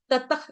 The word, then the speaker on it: ततः: की कटेशु भविष्यति भविष्यति दो विसर्ग है ततख इस विसर्ग का उच्चारण होगा जब आपने सांस छोड़नी है उसमें आना चाहिए साउंड आधे ख की तरह पूरा प्रॉपर वे में ततख ऐसे नहीं बोलना है